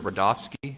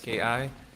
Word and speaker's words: Rudofsky: Special Agent Rudofsky, that's Rudofski, and it's pronounced Rudolph and then ski.